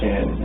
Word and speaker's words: Shanann: Shanann and apostrophe A-N-N. Okay. It's easier to say it when I spell it out, but because we keep wanting to say Shannon, of course, but a lot of people call her Shannon.